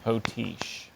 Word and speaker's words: potiche: Are there any alternate pronunciations? I see just the one, potiche.